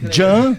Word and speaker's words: Can: Jan se escreve com C. C-A-N. Eu vou ajudar, tá? Eu vou ajudar. Olha lá, ó. Tá vendo? Tá escrito aí. Cambay. Jan, o C pronuncia J, né?